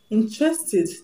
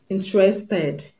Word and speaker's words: interested: So when you have a word that ends with the sound T, the past tense marker will be pronounced ED, wanted, granted, interested, taunted. So the word is not wanted, but wanted, wanted, and not wanted. The word is not interested, but interested, interested, and not interested.